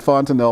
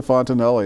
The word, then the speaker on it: Fontenelle: to pronounce the name so I had been pronouncing it fun to know all you know I'm you know I've been educated yeah but you watch the film with the fontanelle 'yes but once again life's